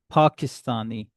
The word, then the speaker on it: Pakistani: And when Pakistani, so Pak you will stress. Pakistani.